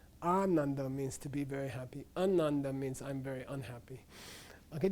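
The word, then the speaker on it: आनन्द: yeah yeah yeah an ananda means the person who's unhappy means uh the person who's extremely happy an initial long a means very much an initial short a means not at all so when they say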